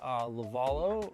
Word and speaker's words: Lovullo: Phonetically, I think it's supposed to be Lovullo, but my grandma had such a heavy Italian accent that she could barely get it out. So it's just Lovullo.